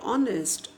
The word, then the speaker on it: honest: So while talking about honest, again H is silent.